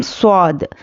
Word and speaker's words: صاد: چلیے اب دوسرے بھی دیکھتے ہیں۔ اب یہ ہے الف لام میم صاد، تو یہاں پر دیکھیے میم ساکن کے بعد میم آیا ہے، یہاں پر ہم کیا کریں؟